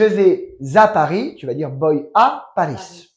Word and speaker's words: voy: bien alors de nouveau ça s'écrit y VO y mais tu prononces boy comme garçon en anglais tout bass très bien